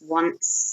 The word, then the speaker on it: once: a week once a week okay notice the pronunciation it's once so once a week once a week once